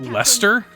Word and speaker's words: Leicester: mercenaries in all of leicester that's how you pronounce that lester looks like we'll be